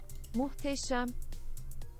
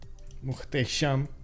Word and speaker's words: Muhteşem: Is this the correct way of pronouncing Muhteşem? Let me see. It actually means wonderful. Just as a... Muhteşem.